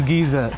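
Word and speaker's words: geyser: got it okay yeah just means Giza so that's how we pronounce it but yeah we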